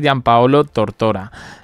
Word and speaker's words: Gianpaolo Tortora: En cualquier caso, bueno, he estado buscando, ayer os comentaba de que en la prensa italiana sacaba al señor Gianpaolo Tortora, sí, lo he pronunciado bien, que era el doctor cirujano que atendió a Kate Middleton, ¿no?